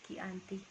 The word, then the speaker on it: Giyanti: yaitu di desa Candi dalam pelafalan Belanda ia disebut kianti namun sekarang ditulis menjadi Gianti Gianti tempat tersebut terkenal